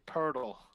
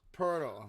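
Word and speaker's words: Pöltl: podem poda i mean i know how it's spelled but they say purdle portal yeah portal yeah it's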